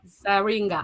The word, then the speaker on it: Dzaringa: your name is sergeant michelle zaringa i don't know if i said it right you always have yeah you got it right these z son sometimes